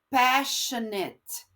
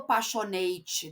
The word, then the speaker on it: passionate: pronuncia tá no finalzinho quando eu tenho esse eu faço o som de it desperate passionate tá eu não falo passionate desperate tá isso é um erro comum dos brasileiros então é desperate Passion